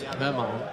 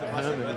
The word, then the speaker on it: Jaman: So apparently Jaman's name is actually pronounced Herman. Or Herman, maybe.